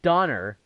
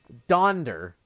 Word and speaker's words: Donder: It's not Donner. It's Donder. Dasher, Dancer, Prancer, Vixen. That is how it is pronounced.